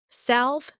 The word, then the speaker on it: salve: This word is pronounced as salve.